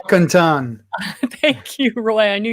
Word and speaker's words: Mdewakanton: So the original territory of the Mdewakanton. No, I didn't pronounce that right. Mdewakanton.